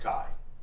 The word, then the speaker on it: Kay: Now, again, I'm certain in the Saint Ives Compact, with his mother's people and everything like that, is pronounced Kai, and with all those implications. But Kay grew up in the Federated Commonwealth. That's how it would have been pronounced. And so that's how he pronounces it himself.